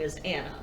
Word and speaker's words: Anneh: the designer's name is i believe i'm pronouncing this right anna fletcher it's a-n-n-e-h interesting which i would assume is anna but she has like